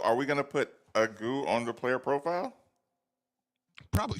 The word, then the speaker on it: Agoo: Did you listen to the pronunciation bar? No, but I looked at it and it says Agoo.